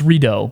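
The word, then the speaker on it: Ridout: I know it's it's redo, but we pronounce it Ride Out because we're very English.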